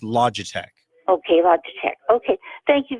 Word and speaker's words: Logitech: on paper ello GI te CH but it's pronounced Logitech okay loud okay thank you very much I